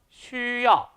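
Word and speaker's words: 需要: 그래서 여기 나와 있는 XU라는 발음은 수라 하지 않고 쉬라고 발음한다는 점 꼭 기억하시기 바랍니다.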